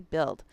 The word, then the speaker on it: build: That word used to be pronounced differently, so they spelled it with a UI. We don't we don't say it the way they used to say it. We just say build.